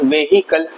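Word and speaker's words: vehicle: ये देखिए वेहिकल, आप भी यही बोलते होंगे वेहिकल, बट ये वेहिकल नहीं होता है, ये व्हीकल होता है, व्हीकल, वेहिकल नहीं होता है, व्हीकल होता है।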